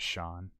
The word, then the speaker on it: Shawn: Apparently, SHAWN was an adjusted spelling of Sean, more like an Americanized version, because people couldn't grasp like the phonetics of SEAN being pronounced as Sean.